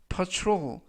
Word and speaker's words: patrol: 이때 유의하실 점은 TR 발음이 true 그래서 patrol 이라고 발음하시면 되겠습니다.